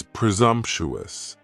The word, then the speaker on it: presumptuous: Next is presumptuous, and presumptuous has 4 syllables, and the stress is on that second syllable, and the S almost sounds a little more like a Z. Presumptuous, presumptuous. If somebody is being presumptuous,